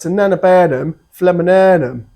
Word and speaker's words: Typhonodorum Lindleyanum: Typhonodorum Lindleyanum. It's actually pronounced Typhonodorum Lindleyanum.